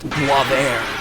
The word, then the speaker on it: Boisvert: while now called _Boisvert, or as I believe it's actually pronounced, Boisvert.